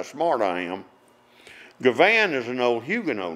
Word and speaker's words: Givhan: times out of ten, if I say Givhan, which is the way it's pronounced, people will say it's spelled G-I-V-A-N.